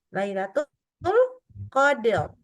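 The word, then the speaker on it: ليلة القدر: menac ini harus dibaca harusnya Lailatul Qadr tebal Q Lailatul Qadr G Nah kalau gitu salah karena thenya jadi dalnya jadi tebal lihat dengarin ya kita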